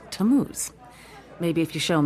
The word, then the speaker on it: Tammuz: It's pronounced Tammuz.